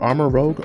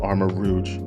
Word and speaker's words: Armarouge: arm armor rogue or armor rogue armor rouge i'm pretty sure it's pronounced armor rouge no i'm sorry armor rogue i'm just gonna say